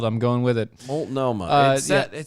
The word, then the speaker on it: Multnomah: Multnomah. Oh, Multnomah. Multnomah. That's how it's spelled. No, it is. It's how it's spelled. I'm going with it. Multnomah.